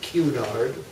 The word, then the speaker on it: Cunard: formed to compete with Kunar which the British pronounced cue nard right right at any